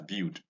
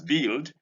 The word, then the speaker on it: build: We often pronounce this word as build, thinking that there is U inside. This word has no U. This is build.